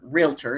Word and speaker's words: Realtor: you may know me as a realtor is how you actually say that word. I get in trouble all the time from realtors for not saying it right.